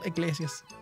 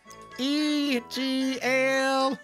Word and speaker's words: Iglesias: what's your name Gabriel Iglesias okay egl no no you spelled with an i but you said easily it's just my glass it's it's spelled with an i okay mr.